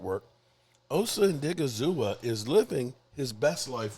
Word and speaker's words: Odighizuwa: Did I pronounce that right? Osa. Yes, Odighizuwa.